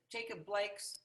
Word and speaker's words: Jacob Blake: I'm not quite sure that came through, that this is a Black Lives Matter rally to support the outrage over Jacob Blake's, did I say his name right?